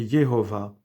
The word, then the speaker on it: Yehovah: une tradition constante que sa véritable prononciation est Yehovah.